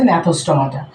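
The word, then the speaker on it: Gnathostomata: অথবা সাইক্লোস্টোমাটা এখানে আছে ন্যাথোস্টোমাটা এখন ন্যাথোস্টোমাটা জিটা সাইলেন্স থাকে এটার উচ্চারণে আমরা আনি না প্রোনাউন্সিয়েশনে আমরা যখন স্পেল করি তখন এটা জি দিয়ে আমরা লিখি ন্যাথোস্টোমাটা এই স্পেলটা কিন্তু তোমরা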